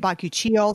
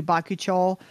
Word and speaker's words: bakuchiol: I think some people say it bakuchiol. Some people say it like you do bakuchiol.